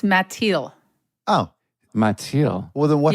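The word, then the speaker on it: Mathilde: he think can I guess the the correct pronunciation yes ma that's correct uh no it's mati oh mati well then what happens to the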